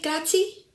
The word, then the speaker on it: grazie: So there's like an A sound at the end, Yes. not an uh sound.